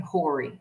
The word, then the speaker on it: Horry: So the county that we lived in was Horry County, spelt with an H but silent, because I got yelled at in the beginning. I kept saying Horry, and they're like, it's Horry.